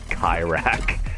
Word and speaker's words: Kayrack: You do realize how K-A-Y is pronounced, right? Kayrack. It's not spelt like Kyle.